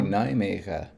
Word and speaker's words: Nijmegen: They seem to say Nijmegen. Yeah, they dropped the They N. dropped the N.